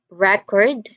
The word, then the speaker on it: record: And finally, look at record as a noun, which is a documented item. Stress again the first syllable, record. But when it's a verb, it meant to capture sound or video. So the stress shifts to the second syllable and we say it as record, record.